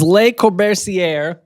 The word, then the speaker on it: Le Corbusier: No, it's Le Corbusier.